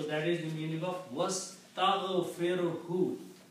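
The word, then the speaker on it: وَاسْتَغْفِرْهُ: But when you put wow, then alif is not pronounced, so it becomes was.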